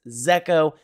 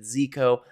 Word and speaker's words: Zeko: One thing I have to clarify is this project is technically pronounced Zeo. Throughout this video, I do pronounce it Ziko, mostly because it does rhyme with ZK.